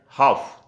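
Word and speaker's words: half: letter silent होता है जैसे हमको यहां पर दिया है हाफ तो हम हाल्फ अपनी बोलेंगे आप बोलेंगे तो हाफ में एंड साइलेंट हो रहा है तो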